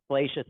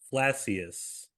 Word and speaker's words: Flacius: But um Felacius is what I will usually say. I I will say fla fla flacius is how I've often pronounced it.